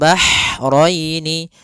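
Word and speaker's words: البحرين: Kemudian bahraini, ha ini hanya ha kecil, hati-hati jangan terbaca dengan ha besar, jangan marajal bahraini, jangan, karena dia huruf ha kecil. Bagaimana pelafalan ha kecil? Yaitu ha atau bisa kita sebut dengan ha pedas, yaitu adanya aliran nafas yang kita lafalkan dan dia lembut. Maka marajal bahraini, marajal bahraini yaltaqiyan.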